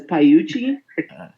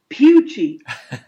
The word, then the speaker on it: Pucci: this guy 45 years his last name is is pronounced pucci not gucci somebody did it was